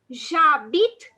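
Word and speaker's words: j'habite: vowel in french and h is not pronounced so we will pronounce it as javit ah and the place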